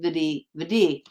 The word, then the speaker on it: Vidhi: It's literally just pronounced Vidhi.